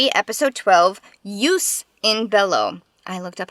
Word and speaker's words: Jus in Bello: like found the chicken foreign episode 12 use in Bellow I looked up how to pronounce that is it right to sacrifice one